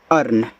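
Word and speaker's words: earn: ई ए आर एन, तो इसको हम पढ़ते हैं अर्न, ऐसे आ अर्न, अर्न।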